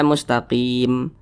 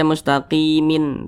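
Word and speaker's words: مستقيم: dalam sekali bacaan nah ini kita baca mustaqim Jangan dibaca mustaqimin tapi dibaca mustaqim nah huruf mim kita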